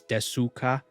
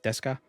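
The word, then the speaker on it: ですか: Like it's spelled in Romanized. It's desuka, but it's pronounced deska.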